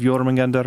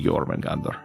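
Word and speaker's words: Jörmungandr: gems or some such there's not an emphasis on the middle syllable of yoring Gander it should just be yorman Gander the stone is a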